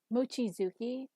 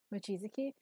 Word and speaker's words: Mochizuki: But the emphasis is all in the wrong place, where it should be Mochizuki. Because in Japanese, generally, with names, it's like the first syllable and the third syllable. It's like the odd number syllables are the one with emphasis.